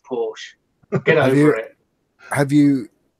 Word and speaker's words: Porsche: Tandy Oh Charlie and because it's German you pronounce the e off it's a Porsche get out here have